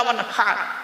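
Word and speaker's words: وانحر: এই গলার ভেতর থেকে হ্যাঁ এটা উচ্চারণ করবেন, হাই হুতি হাই হাওয়াজ নয়। ফাসাল্লি লিরাব্বিকা ওয়ানহার, মুরব্বিরা ভালো করে শুনে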